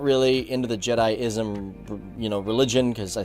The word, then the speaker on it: Jediism: minute Leroy you're pronouncing jedism or jediism as jedism it's pronounced jedi-ism now I actually called